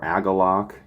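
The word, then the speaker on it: Agalloch: of some of the Galax material, or Agalok, for those of you who are sticklers for pronunciation.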